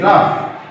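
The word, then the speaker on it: rough: আর ও ইউ জি এইচ, রাফ।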